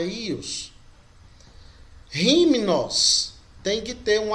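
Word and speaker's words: υἱός: Então a pronúncia fica só I. Não é uios, não, é Ios.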